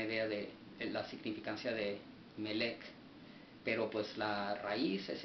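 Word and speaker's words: מלך: el H4428, el cual se traduce o se pronuncia Melech, el cual significa un rey, dice, de gente,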